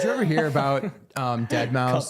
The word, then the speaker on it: Deadmau5: ever hear about um dead mouse the dj dead mouse um yeah deadmau5 is how it's spelled miu um he either